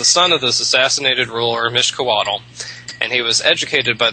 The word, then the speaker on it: Mixcoatl: Mixcoatl, Mixcoatl.